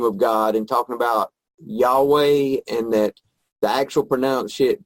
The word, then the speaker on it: Yahweh: God and talking about Yahweh and that the actual pronounced pronunciation of that was the breath once it's named the same sound as you make when you breathe and that your first